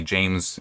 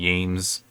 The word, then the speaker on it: James: It would be like some people call me James, the hard J, some people call me James Yames, like pronouncing the J differently, you know, something like that.